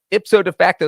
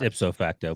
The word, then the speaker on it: ipso facto: the NFL so by ipso de facto that makes them the worst team in the NFL I think it's ipso facto but so facto there's a little time set some extra syllables in there so cold I'll be